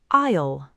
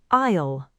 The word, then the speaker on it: aisle: aisle The S in aisle is silent. Listen again. aisle aisle An aisle is the path between the seats.